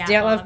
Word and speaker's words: Dyatlov: Dyatlov. Yes, It's Dyatlov Pass incident.